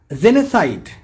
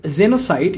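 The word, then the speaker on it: genocide: পারিভাষিক অর্থ পালক পিতা জেনেসাইড জেনেসাইড এর বাংলা পরিভাষা কি হবে আমরা বলি জেনোসাইড কিন্তু এর উচ্চারণ হবে জেনেসাইড এর বাংলা পরিশব্দ হবে গণহত্যা গ্লোসারি শব্দের অর্থ কি?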